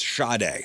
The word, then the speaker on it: Sade: The name is Sade.